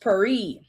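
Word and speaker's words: פרי: The Hebrew word for earning is piri. It actually is a P with an apostrophe and two E's, right? It pronounced peri, and it means, get this, fruit of actions.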